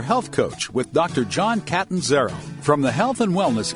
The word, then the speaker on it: Catanzaro: It's Catanzaro. Catanzaro, yeah. okay. And it's a hard name to pronounce, and that's why everybody calls me Dr.